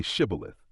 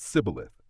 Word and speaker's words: Shibboleth: If he said no, then they said to him, "Now say Shibboleth," and he said Sibboleth, for he couldn't manage to pronounce it correctly.